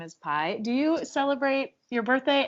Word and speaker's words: Pi: My name is Pi. You spell it pie like math.